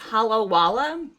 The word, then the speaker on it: Halawa: new ohooo colored pencils I think they are pronounced Hal Wala they usually name their products after places in Hawaii um these are an